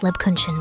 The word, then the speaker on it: Lebkuchen: It's pronounced Lebakuchan, Remi.